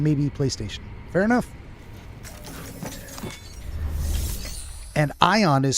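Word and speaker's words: Aion: And Ion is spelled A-I-O-N.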